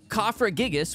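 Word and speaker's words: Cofagrigus: something it's uh kfra yep kafra gigas which is actually how it's pronounced Pat is actually the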